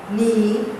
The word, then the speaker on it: knee: Going on to the next page, pronunciation, silent K. The K is not pronounced. Repeat after your teacher. Knack. Please don't say knack. K is silent. Knack. Knob. Knee.